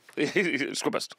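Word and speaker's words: Squarebast: fist bump Square Bast Square Bast is like one it's like one syllable squ best squ best s best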